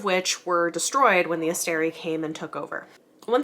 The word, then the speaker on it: Asteri: Also, I realized I maybe have been saying Astari some of the time. It's Asteri, so if you're here to correct me on my pronunciation, please don't. I'm aware, thank you.